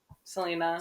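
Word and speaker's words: Celaena: feel like Selena's easy Selena SEL people always asking how to pronounce that and like just like Selena Gomez I don't know and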